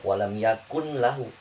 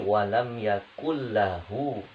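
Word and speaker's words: ولم يكن له: Jadi bacanya bukan walam yakun lahu, tapi walam yakul lahu kufuwan ahad.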